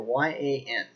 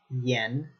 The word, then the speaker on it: yan: It's this one, E-N, or Y-A-N. A lot of people, when they're first learning Chinese, they're really tempted when they see this to pronounce it Yan, which is incorrect. It's pronounced Yen.